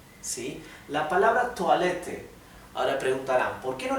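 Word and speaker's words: Toilette: francesa por lo tanto toalete que es la palabra que se usa para baño se pronuncia en francés porque es una palabra de origen francés bien d viene del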